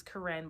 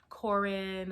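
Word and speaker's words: Koren: name which is normal my name's corinne but it's spelled k-o-r-e-n so people always say korean or it's corrin but anyway so in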